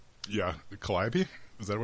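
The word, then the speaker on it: calliope: Collab. Is that what it's That's how it's pronounced. Everyone over where I live seems to think that Americans pronounce it calope and I this is the thing that I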